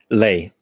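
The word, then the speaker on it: lei: um what's the romanian currency how do you pronounce it lay l-e-i-lay yeah it means lions lay okay and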